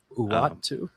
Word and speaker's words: Uatu: So I maybe Uatu, is that how you pronounce it, Clark? Uatu.